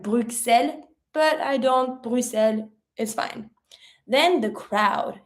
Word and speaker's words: Bruxelles: Some people might pronounce the X like Bruxelles, but I don't. Bruxelles is fine.